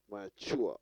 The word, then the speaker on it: mature: Mature, on the second syllable.